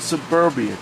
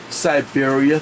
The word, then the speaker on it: Syberia: for the series and I cooked Suburbia too and that was wrong of me to say saying that so I'm gonna get it correct this time because I know how the pronunciation goes because guess what I am playing Siberia 3.